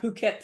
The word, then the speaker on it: Phuket: How about Phuket, Thailand? We always tell people, be careful how you pronounce this. The H is silent.